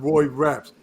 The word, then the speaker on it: Rapx: So we have none other than Roy Raps. The X is silent.